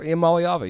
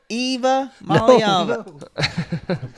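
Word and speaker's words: Iamaleava: says, can Spanky pronounce Iamaliava yet? Nico Eva Maliava. there's no Eva in it, son. Golly. Nico Eva Maliava. Ia Maliava. Eva Maliava.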